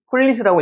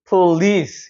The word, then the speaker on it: police: 그런데 강세가 여기 있기 때문에 폴리스라고 읽으면 안 되고 police라고 해야 됩니다. police 이렇게 올라가는 발음이 되는 거예요.